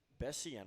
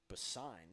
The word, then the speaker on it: Bessian: It looks like it's going to be Kingston Bessian on the mound. I actually believe that's pronounced Bassine, so Kingston Bassine on the mound in this game, and Jackaloni is rung up.